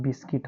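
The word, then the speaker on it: biscuit: तो यहां पर हम यू को नहीं पढ़ेंगे तो क्या हो जाएगा जी आई एल टी गिल्ट हो गया जी ए आर डी गार्ड हो गया बी आई एस सी आई टी बिस्किट हो गया इस तरह से बच्चों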